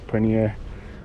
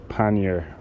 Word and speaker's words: pannier: So this is the 20-litre Ortlieb backpack Pannier, or Pannier. It's not the Indian cheese, it's just Pannier. I think you pronounce it like that.